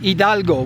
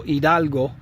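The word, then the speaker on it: Hidalgo: of the state of Idalgo which is spelled hi D A L G O Idalgo.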